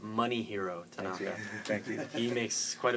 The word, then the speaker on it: Masahiro: said his name wrong it's not mossier it's money hero thank you he makes